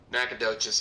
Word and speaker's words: Nacogdoches: do you say that leighton is this town nacogdoches nacogdoches yeah that's a hell of a name is